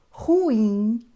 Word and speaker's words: ruim: da palavra por exemplo nós só podemos dizer catheter Condor Nobel ruim ureter Sutil Essas palavras são Obrigatoriamente oxítonas Ou seja a última sílaba é a mais forte nós temos agora outras